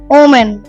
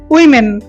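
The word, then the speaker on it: women: ওমেন, ওমেন, এটা হচ্ছে উইমেন, উইমেন। কি হবে শুদ্ধ উচ্চারণ?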